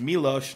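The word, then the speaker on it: Miloš: because I know it's Milos, not Milos, correct? Yeah.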